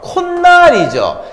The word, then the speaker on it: 콧날: 자, 이거 어떻게 발음합니까? 코날 아니죠? 콧날이죠.